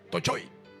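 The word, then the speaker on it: πτωχοί: china esa palabra no tocho y t o c h o i tocho y es así tiene una un acento en la primera o tocho y escuche la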